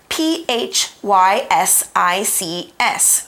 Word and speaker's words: physics: sentence which is spelled p h y s i CS physics it's important to remember here that the pH sounds like an f and the Y sounds like an i okay so physics is